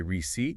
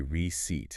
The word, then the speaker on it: receipt: Yes, there is a P, but it's a silent P. You do not say receipt. You just say receipt.